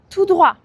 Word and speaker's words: tout droit: Quand tu vas tout droit, tu ne dois pas prononcer le T, tout droit.